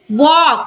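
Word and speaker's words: walk: वॉक, वॉक में भी एल जो है के से पहले आया है तो एल हो जाएगा साइलेंट, तो क्या पढ़ेंगे वॉक।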